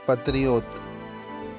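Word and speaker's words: патриот: Patriotizm Patriot Pa-tri-ot Stress is on the third syllabi.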